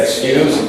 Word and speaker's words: excuse: Two different pronunciations of the same word. I'll say excuse and excuse.